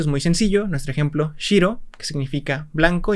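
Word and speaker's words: しろ: Nuestro ejemplo, shiro, que significa blanco, y pues lo pronunciaríamos como shiro.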